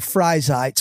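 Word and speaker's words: Freizeit: 70s early 80s called frite which is a probably a very bad pronunciation of a German word for me though but it's a German word for free time and they did they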